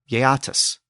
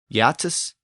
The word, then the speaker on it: Geats: The original pronunciation of the Geats was something like Yeatus, and the original pronunciation of the Jutes was something like Utus. Yatus and Utus.